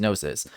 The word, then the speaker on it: gnosis: nosis because I think if you look it up it is like a Greek word and it's pronounced nosis but I forgot to